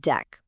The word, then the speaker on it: deque: Even though it's spelled d e q u e, everyone pronounces it deck, just like a deck of playing cards.